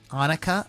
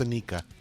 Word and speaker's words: Anika: Her name is Anukica. Anika, I think it's Anika. I've heard it pronounced Anika.